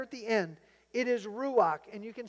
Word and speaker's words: ruach: And the word is ruach.